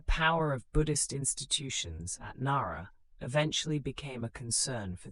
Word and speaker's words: Nara: In 710, the Imperial Court established Japan's first permanent capital at Nara, pronounced Nara.